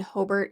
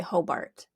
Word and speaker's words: Hobart: Grew up in Hobert, Indiana. Everyone would say Hobart cuz you're not from or Illinois. Mhm. That's just wrong.